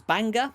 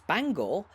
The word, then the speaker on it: Bangor: the city of Bangor spelled identically but pronounced slightly differently Northern Ireland's Banger and Wells is Bangor are the only two